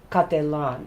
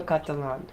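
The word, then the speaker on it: Cattelan: on hold on here hold on okay Maro catalon I knew I was I was missing a few syllables there morito catalon so this is the artist who made this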